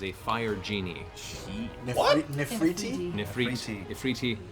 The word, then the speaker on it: efreeti: This is an Ifriti. It is a fire genie. What? Nefriti? Ifriti is the species is Ifriti, but in Ifrit, however you want to pronounce it, a flame genie, generally